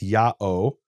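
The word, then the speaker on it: ΙΑΩ: name is written yota alpha omega which is pronounced yao and some people have suggested that that is a continuation of this Aramaic form yuhei yuhei vav.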